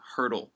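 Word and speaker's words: Poeltl: hurdle no yeah it's it's spelt P o ETL its Jakob hurdle like ancient hurdle but it's a P I don't know where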